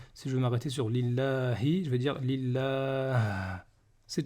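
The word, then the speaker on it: لِلَّهِ: Pour le nom d'Allah, il y a toujours une prolongation. Donc on va dire Lillahi.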